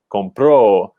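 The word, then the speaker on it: compró: so in this case moving the stress to the second syllable compro changes both the tense like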